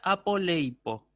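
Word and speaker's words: ἀπολείπω: Entonces el acento va a ir sobre este diptongo. Ey. Uy. Así. Entonces la palabra se pronuncia apoleipo.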